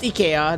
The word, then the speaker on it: IKEA: I say IKEA because Asian Dub Foundation song. Burning Fans? Oh. No, it's IKEA. That's the official pronunciation.